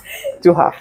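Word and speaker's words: Thuja: Tuha.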